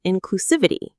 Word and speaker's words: inclusivity: Their goal is to promote inclusivity. Let's focus on this word inclusivity. Inclusiv inclusivity. It's a long one. The main stress is on the civ syllable.